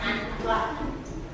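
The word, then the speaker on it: unplugged: Itu bacanya anklak.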